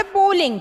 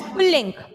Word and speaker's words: पुल्लिंग: पुल्लिंग, नॉट पुलिंग, इट इज पुल्लिंग, right.